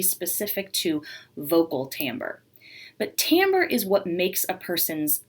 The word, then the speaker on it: timbre: element of music is timbre now i know that the word looks like timber but i promise it is actually pronounced timbre and the actual musical